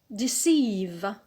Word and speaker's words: deceive: So here the stress is on the alt. Good. So we start using the new words. The alt is the last syllable or the first from the end. So the stress is on sieve.